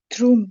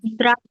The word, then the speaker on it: drum: Drom. Drum. Drum. Dibacanya drum, bukan drom ya, anak-anak ya.